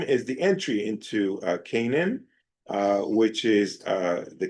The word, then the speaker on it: Canaan: Joshua's instructions uh to the people uh and entrance into and conquest of uh Cananan. Okay. uh Canaan, right? That's how you pronounce Canaan.